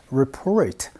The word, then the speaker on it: report: report가 아니고요, report 라고 발음해 주셔야 돼요.